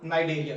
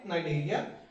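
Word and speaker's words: Cnidaria: मेरे साथ इसे फाइलम नाइ देरिया सी साइलेंट है नाइजेरिया इसी फाइलम नाइजेरिया को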